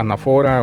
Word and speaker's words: anáfora: Entonces aquí pues, no hay que llamarla anáfora o anáfora, ¿sí? Anáfora. Muy bien, entonces hay que visualizar muy bien dónde está la tilde gráfica, la tilde ortográfica, ¿ok?